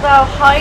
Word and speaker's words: Valheim: Valheim, that's how you say it.